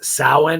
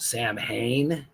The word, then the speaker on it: Samhain: correctly yes it is sin it looks like it's pronounced Sam Hayne but it's actually a Gaelic ancient pronunciation and uh sin is